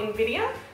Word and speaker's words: Invidia: So now I'm gonna put on Invidia. I did look this up, that is how you pronounce it.